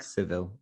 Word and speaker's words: Sevilla: I always say to people, it's like Sevilla. You don't say Sevilla, you say Sevilla. Seville, exactly.